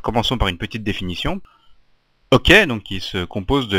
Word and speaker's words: OK: par une petite définition ok donc qui se compose de la colade de deux lettres le O et le K à prononcer à l'anglaise est une expression utilisée